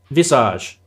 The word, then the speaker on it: Visage: Visage. Sorry, I never knew how to pronounce it.